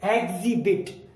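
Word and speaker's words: exhibit: अगला है ई एक्स के बाद, ई एक्स का जो कॉम्बिनेशन है उसके बाद अगर एच आ जाए तो वहां पर एच साइलेंट होता है। हम जब इसको पढ़ेंगे, अगर हम एच का उच्चारण कर देते हैं तो ये बनेगा एग्जिबिट, जबकि हमें एच नहीं बोलना, हम इसको बोलेंगे एग्जिबिट, है नहीं बोलना क्योंकि हमने एच साइलेंट रखा है, तो ये बना एग्जिबिट।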